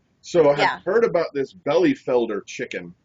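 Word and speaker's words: Bielefelder: real thing it's spelled belief Elder but it's pronounced belly Felder yeah it's it's a it's a great um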